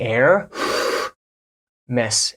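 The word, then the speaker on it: Hermès: in France for AIS I've heard this pronounced a million ways in French the correct way to say this is a a a and in American English you can get away with saying a Miss like air the air Miss air Miss don't say Hermes or something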